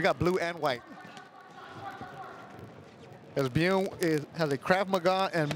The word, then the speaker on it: Byun: BYUN, is it BYUN or BYUN? BYUN. It's BYUN. Steve came with the pronunciation for us. That's a Korean last name, am I right? I believe it is. With the one syllable, yes.